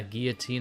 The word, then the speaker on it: guillotine: To be fair, guillotine is how I say it too, because that's how you say it in French.